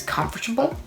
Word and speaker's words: comfortable: tea in the middle but then I realized there wasn't that flap tea in the middle middle but just a regular tea and uh the the right pronunciation is comfortable comfortable with that tea